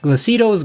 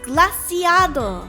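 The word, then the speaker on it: Glaseado: another one of the 10 sides of Pala, Glacito's Grasp. First of all, it's pronounced Glaciado.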